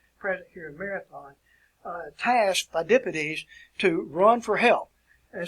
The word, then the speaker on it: Phidippides: You can pronounce this either two ways. Phidippides, my pronunciation, Phidippides, it's something similar to that, but I would just say Phidippides. That's an easier pronunciation.